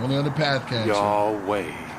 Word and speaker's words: Yahweh: Yahweh. Not Yahovah, not Yahweh, not Yahweh, not Yehovah, not Jehovah, any of that. It's Yahweh.